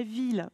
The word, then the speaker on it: ville: La ville, effectivement. Donc ici, la ville. Les I2LE ne se prononcent pas IE.